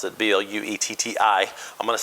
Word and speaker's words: Bluetti: the Bluetti, I'm not real sure how to pronounce it, B-L-U-E-T-T-I.